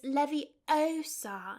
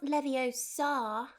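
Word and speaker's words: Leviosa: someone's eye out besides you're saying it wrong it's Levy Oar not Lev Oar I won't be going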